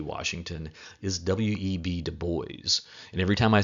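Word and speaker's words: Du Bois: I'm saying it wrong he pronounced his last name Deo not Dubois so Deo he is a little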